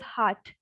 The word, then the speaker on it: hat: It is not hat in English, it is hat. Hat, heart. So A has the sound of A, so heart. And T is not exactly T, it is Th. So hat, like this.